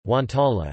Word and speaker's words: guanciale: Guanciale, Italian pronunciation, guantala, is an Italian cured meat product prepared from pork jowl or cheeks.